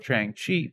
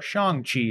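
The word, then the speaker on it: Shang-Chi: during the thing that god's the star of chang chi shang or shang chi as we now know it is pronounced in the film chang chi chung chu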